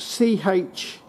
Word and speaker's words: Chint: managed to track down one of these now it's spelt c-h-i-n-t chint whatever i checked on my welder and